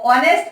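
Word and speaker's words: honest: लेकिन यहां पर बॉय को क्वालिफाई किया गया कि ये ऑनेस्ट है, और ऑनेस्ट की वजह से यहाँ एन आ गया, क्योंकि एच साइलेंट होता है, हमारा प्रोनाउंसिएशन ओ से होता है, इसलिए यहाँ पर एन ऑनेस्ट बॉय।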